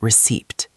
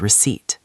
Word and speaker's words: receipt: The letter P is silent. It is not receipt. It is receipt.